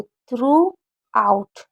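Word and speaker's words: throughout: तो टी एच को था पढ़ेंगे, आर को रा यानी कि थ्र, उसके बाद ओ यू को ऊ पढ़े, और जी एच को साइलेंट रखा जाता है। तो थ्रू आउट, थ्रू आउट, क्योंकि ओ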